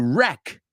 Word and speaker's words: wreck: are spot on yes that W is a silent W like in the word wrist right wrist to wreck right to wreck D